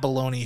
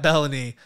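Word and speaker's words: Belloni: the puck but it's it's uh it's Matt baloney who or uh bellany it's spelled like you could say bologna it's Melanie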